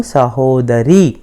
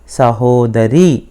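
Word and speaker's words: ಸಹೋದರ: भाई हूं नान सहोदरा सहोदर मत बोलिए सहोदरा नानू सहोदरा यहां क्या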